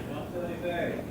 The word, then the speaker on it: Champs-Élysées: Champs-Élysées. Okay. He's kind of grumpy. Champs-Élysées?